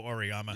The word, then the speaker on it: Auriemma: Gino Auriemma. Auriemma, apparently.